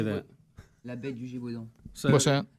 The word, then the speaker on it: La bête du Gévaudan: La bête du Gévaudan. What's that? La bête du Gévaudan.